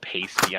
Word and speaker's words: pasty: to properly caramelize onions yeah yeah yeah it's pronounced pasty i know i just don't like saying pasty